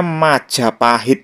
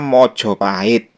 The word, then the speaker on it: Majapahit: juga carakan nah ini cara bacanya ada dua versi ya kalau menurut dialek Banyumasan atau yang lazim disebut dialek Ngapak itu cara bacanya Maja pahit sama seperti pengucapan era Jawa kuno sedangkan menurut dialek mataraman dan juga Jawa Timuran tulisan ini Dibaca mojoahit tapi perlu diingat ini